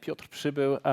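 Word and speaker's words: Piotr Przybył: the drill so uh my name is uh piotrop Cebu but you can call me or Peter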